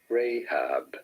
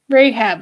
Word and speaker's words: Rahab: anyone's right name incorrectly rahab pronunciation in the bible let us find out together announced as rahab rahab okay so of course i'm completely incorrect all right and joshua